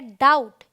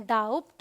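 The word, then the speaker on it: doubt: अब देखिए टी से पहले आए तो भी साइलेंट है, ये है डेट, ये है डाउट, ये है सटल, इसे हम सब्टल नहीं पढ़ते, इसे हम डाउट नहीं पढ़ते, इसे हम डेप्ट नहीं पढ़ते।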